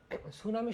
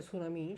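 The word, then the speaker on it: tsunami: তো এই সুনামি এটা একটা জাপানি শব্দ এবং যখন আমরা ইংরেজি বানানটা লিখি তখন কিন্তু আমরা টি দিয়ে লিখি এই বানানটা, এটা বেশ ইন্টারেস্টিং।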